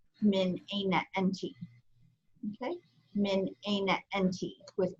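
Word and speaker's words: من أين أنتِ: change the feta to a kesra, and it's pronounced min aina enti, min aina enti, okay?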